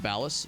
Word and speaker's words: Ballas: Um that has uh that that's that's pronounced Ballas.